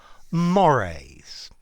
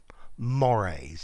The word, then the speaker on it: mores: Mores. Notice the pronunciation. Mores.